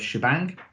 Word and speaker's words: shebang: So hash exclamation mark, which traditionally are pronounced as sh and bang, and therefore the two things together are known as shebang, and then the path to the thing that we want to execute.